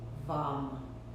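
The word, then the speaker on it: वं: And as you do, into that space of attention, add the repetition of the syllable VAM. V as in Victor, A-M, VAM, VAM, VAM, in your mind.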